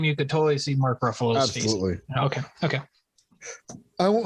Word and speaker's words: Ruffalo: just keep saying that what i call mark ruffio what is it really ruffalo ruffalo like the way they